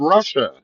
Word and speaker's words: Russia: And it's uh spelled Russia and they pronounce it Russi.